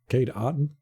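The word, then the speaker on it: Kade Otten: to say it so finally we ended up finding an interview with him and he said it he said yeah my name is kade kate otten we're like oh well there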